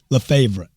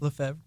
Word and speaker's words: Lefebvre: I got a guy here today with me, Val Le Favor. How do you say it? You got it. Is it right? Le Favor.